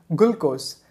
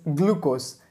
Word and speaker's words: glucose: was like wow but i never really noticed that it was glu i was thinking it was a gul so i used to call it glucose but the right pronunciation of this word is glucose and i'm sure most